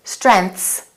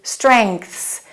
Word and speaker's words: strengths: it will be incorrect it'll sound like this strengths but it should be strengths you have to create the G back here oh.um strengths and then there's a th and then an S that's not easy but you need to practice until you can say it naturally strengths strengths strengths when